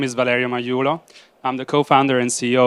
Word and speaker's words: Magliulo: you for joining us my name is Valerio majulo I'm the co-founder and CEO of abateable today